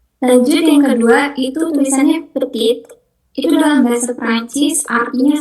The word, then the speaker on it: petit: Lanjut yang kedua itu tulisannya petit itu dalam bahasa Perancis artinya small atau kecil tapi huruf T terakhirnya itu enggak dibaca. Jadi cuman peti peti.